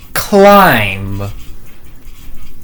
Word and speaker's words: climb: This this word is climb. Yeah, you can see that there's a silent B there.